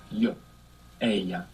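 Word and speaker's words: ella: l l a dou l in Spanish is pronounced y a so if you want to say she sees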